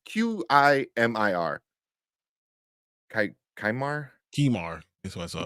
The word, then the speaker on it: Qimir: Kaimar. Kimar. That's what I saw. Kumar? Kimar. Yeah, I forgot how to pronounce it. Q I is key, and then Yeah, bar. yeah.